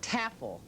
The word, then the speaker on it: Tafel: Tafel. That's right. Rhymes with raffle.